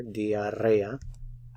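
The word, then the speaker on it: diarrea: patient has diarrhea you have to roll your r here diarrhea he is cold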